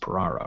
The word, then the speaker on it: Piraro: pop markers special guest Dan peraro pronounced pararo right yeah good things you